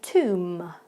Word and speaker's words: tomb: of the words, but you do not need to pronounce that B at all. So it just becomes climb and tomb.